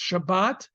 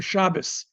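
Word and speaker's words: שבת: So the big giveaway between Ashkenazic and Sephardic Hebrew is how words that end with this letter are pronounced. Shabbat or Shabbos or Shabbos. Sukkot, Sukkos. Well, they never pronounce that way. It's usually Sukkos.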